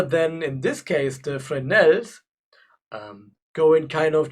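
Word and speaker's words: Fresnel: this one um yeah we call them frels or in in German they say frel but it's spelled with an S but it was um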